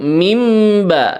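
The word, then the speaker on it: مِنْ بَيْنِ: Yakhruju mimba, nun mati ketemu dengan ba itu hukumnya disebut dengan iklab.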